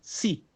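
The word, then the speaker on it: σύ: e o y acentuado Então como seria o som si É como fosse s em espanhol mas é si ó si si si si você tem que dar uma ênfase no i si o espanhol a palavra si no espanhol É sim só que escrevemos e pronunciamos sim sim só que aqui é si algo parecido como a palavra si em espanhol aí depois temos voz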